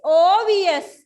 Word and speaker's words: obvious: It is obvious. මට ඒ වචන ටික දෙන්න බැරි වුණා කොලේ ඉඩ මදි නිසා. So මෙයාගේ sound එක හරිම important. OBVIOUS obvious. So this is a silent letter.